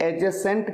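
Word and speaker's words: adjacent: और आपकी नॉलेज के लिए आपको बता दूं, इसे एडजेसेंट कहते हैं, ADJCENT, यहां पर डी साइलेंट होता है, एडजेसेंट। नेक्स्ट क्वेश्चन, ये एक यूनिवर्सिटी है, यहां पर ए यूज होगा या एन यूज होगा?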